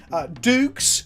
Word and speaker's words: Dukes: We've played some Australian Highlander on the channel before, but today I'm inviting Dukes on Twitch. That's right? I pronounced it correctly?